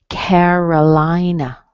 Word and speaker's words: Carolina: Carolina. Carolina. Da, da, da, da. So you can hear the first vowel and the third vowel.